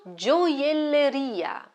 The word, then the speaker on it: gioielleria: And now gioielleria, gioielleria, gioielleria. The stress is on the last syllable, ria.